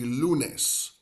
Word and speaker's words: lunes: Two syllables. Lunes. Lunes. Like saying the word Lou for someone named Lou, and then nes, which is almost like saying the word nest without the S.